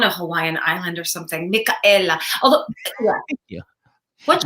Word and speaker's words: Micaela: Micaela. Micaela. I keep wanting to say Micaela for my Spanish class in 11th grade.